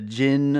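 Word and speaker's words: Djinn: The whole the Jin, I believe is how you pronounce that particular kind of character, a Jin.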